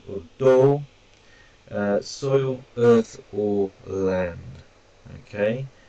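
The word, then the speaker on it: 土: Now, this here is tsuchi or do, soil, earth, or land.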